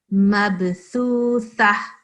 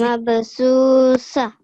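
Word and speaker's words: مبثوثة: So it's thu, not su. This is not seen. This is tha. Yeah, you have to put your tongue in between your teeth. Mabthutha. Can you say? Mabsusa.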